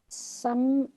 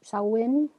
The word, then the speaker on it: Samhain: Samhain, I think is how you pronounce that one word. Looks like Samhain, but I think it's Samhain.